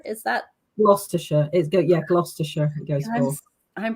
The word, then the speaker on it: Gloucestershire: She lives in Gloucestershire countryside with her family and muse mutt, Basil.